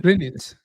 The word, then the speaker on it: Greenwich: Greenwich. Creo que la Greenwich. W no se dice, pero vamos.